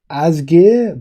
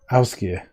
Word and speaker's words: Ásgeir: Ásgeir. Yeah. So that's it's a rolling R in the end and ow, the first letter.